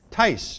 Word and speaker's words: Tice: Tice, just like it's supposed to sound.